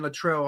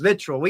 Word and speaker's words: Littrell: When we went to when we had Brian Luttrell on, or I guess his name's Littrell. I don't know why we call it his spelled like Luttrell.